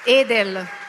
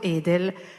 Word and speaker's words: Edel: Allora, io gli avevo promesso che l'avrei pronunciato bene il nome con la E chiusa e non con la E aperta alla toscana.